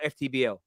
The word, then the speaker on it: FTBL: Of course, with Culture Cam, Fuad over there on is it pronounced football or FTBL? FTBL. Yeah, that's what I say.